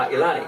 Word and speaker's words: Ailani: Most people would pronounce it that, but Which correct I really loved was the name Ailani.